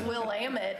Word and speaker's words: Willamette: You talk about pronunciations? It's Willamette.